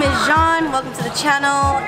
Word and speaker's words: Jean: name is Jean. Welcome to the channel. It's spelled. Dang it, how do you do it? What's up, guys? Welcome to the video. My name is Jean, spelled like Jean. It's French.